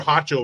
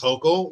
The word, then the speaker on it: Hochul: York Kathy hoko I called her hoto and somebody in the comments was like actually it's hoko whatever I don't I don't have any respect for her so I don't care about saying her name wrong but it is H hoko so I'll try to say it right New York Governor Kathy